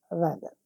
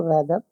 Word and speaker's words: rather: वो लफज़ है रेदर। अक्सर लोग उसको रेदर पढ़ते हैं। दरअसल रेदर नहीं है। रादर है।